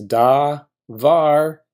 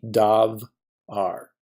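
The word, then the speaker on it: דָּבָר: begins with a consonant it's da VAR it is not going to be dog R the second part of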